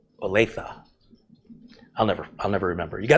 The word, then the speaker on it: Olathe: Richard says it's Olathe. Olathe. Olathe.